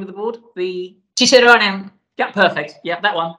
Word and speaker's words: Cicerone: Where, if you come along to have a look at the, pronounce that for me, what's the name of the board? The Cicerone.